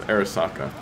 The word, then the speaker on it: Arisaka: but by this this one right here there's Arisaka that's how you pronounce it I'm not Asian thoughts on the